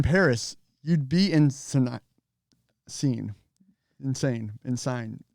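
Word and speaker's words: Seine: sign it's it so it's sign or scene it's a river in paris yes i know i did not know that i had to look it up i believe it's pronounced scene so insane the best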